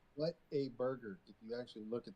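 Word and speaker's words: Whataburger: Water burger. Oh, water burger. I'm not a fan of the burgers honestly. Okay. But they're burger. It's literally What a burger.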